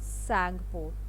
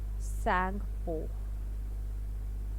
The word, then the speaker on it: Tsangpo: Okay, and from Tibet, in Tibet it is called as Tsangpo, Tsang, Tsangpo. T is silent. So Tsangpo is what it is called in Tibet.